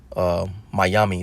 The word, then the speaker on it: Miami: All right, it comes from Mayami. That's how you actually would say it, and it's broken Hebrew.